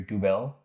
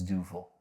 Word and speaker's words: Duvel: duil du duil duel I think the way you pronounce it is du duul du D that's so funny to hear people try to pronounce it I I've always said when I was younger dubel but I think it's doil which means devil this is an iconic